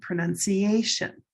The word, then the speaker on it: pronunciation: Brown cow pronounce I can't pronounce it pronounce but the pronunciation the noun is gray day pronunciation. Can you see how these are different? pronounce pronunciation. They sound very different.